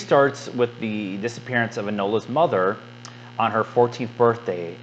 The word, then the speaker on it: Enola: These Ilona Holmes, no. Enola. I knew I was saying it wrong.